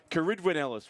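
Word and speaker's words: Ceridwen Ellis: Fremantle Lane 7, Caridwin Ellis, we believe, is the correct pronunciation. Thank you to Trish Burton, who was watching the live stream a couple of days ago, sending through some advice on the Welsh pronunciation.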